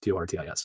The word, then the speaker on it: Tortoise: Tortoise, Tortis, not tortoise like a turtle with legs.